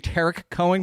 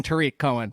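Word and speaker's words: Tarik Cohen: know this jeff when people were saying tarek cohen coming out of college i was like i'm pretty sure it's tariq and i found a video of his mom saying tariq cohen so i was like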